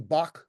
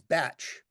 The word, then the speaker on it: Bach: you've heard of the bach flower remedies but the correct way to pronounce his name is batch okay B okay but